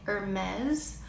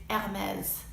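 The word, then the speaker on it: Hermès: to pronounce it these ad mez infringe if there's an H at the beginning of the word you don't pronounce it another iconic and trendy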